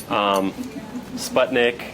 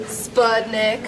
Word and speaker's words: Spudnik: This is finance, our sales group, EDU, Sputnik. So another, like I said, Spudnik. Spudnik, excuse me, mispronounced.